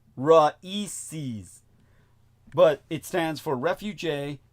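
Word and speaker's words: RAICES: all in the uppercase it's an acronym pronounced raes but it stands for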